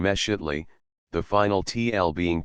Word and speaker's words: Mexitli: The letter X is invariably pronounced as SH, so that Mixcoatl and Mexitli are, viva voce, Mishkotli and Meshitli, the final TL being